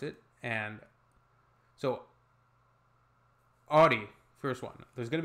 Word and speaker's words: Audi: Most Americans that I know pronounce it like I just said it, Audi. Audi. In German, we say Audi. Audi. Audi.